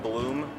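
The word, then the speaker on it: Bluhm: My name is Bloom. Last name is spelled B-L-U-H-M. It's like Orlando Bloom, except much more German and a little bit uglier.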